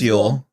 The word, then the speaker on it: Yule: i think i don't i don't think they pronounce it julie so i think no it's yule um called yoga he's